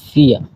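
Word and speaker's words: vier: 4 কে বলা হয় ফিয়া।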